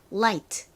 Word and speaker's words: light: 가지고 있어요 바로 light입니다 light는 발음을 할 때 혀를 앞니 뒤에 댔다가 떨어뜨리면서 라이트 라이트 이렇게 발음을 하죠 그 소리는 리을 소리가 나는 r과 L 중에서 l의 발음입니다 그리고 모음 부분 라이트이니까